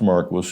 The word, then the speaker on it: Marquis: Now this is Don Marquis thing pronounced Marquis who wrote Archie the cockroach.